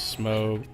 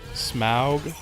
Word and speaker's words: Smaug: Smaug. That's, I always took it to be Smo. You know, silent GH kind of thing.